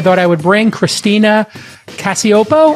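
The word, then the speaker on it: Cacioppo: I thought I would bring Christina Cassiopo. I pronounced it correct. I'm hoping, Christina. You got it.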